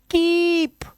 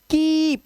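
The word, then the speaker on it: keep: हैं दो वाउल तो इसमें लॉन्ग वाउल साउंड होता है कीप अब इसे पढ़ोगे किप तो आप गलत हो यार आप गलत प्रोनाउंस कर रहे हो इसको कीप ठीक है लेकिन अगर मैं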